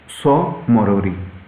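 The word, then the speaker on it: Tso Moriri: में देखें तो है पोंग और स मोरोड़ टी साइलेंट है नेक्स्ट अगर हम देखें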